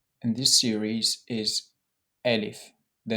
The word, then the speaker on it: Alif: The first letter in this series is Alif. The name of the letter is Alif. The pronunciation of the letter is A, A, as in Ana, Ab, Ahmed.